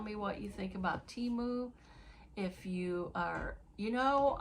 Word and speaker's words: Temu: Tell me what you think about timu. If you are, you know, I've heard it pronounced both ways. Timu or teu. So, I'm going to pronounce it timu.